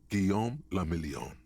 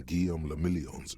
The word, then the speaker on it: Guillaume le Million: Guillaume le Million. Oh, too late. If it doesn't rhyme, you're not pronouncing it right.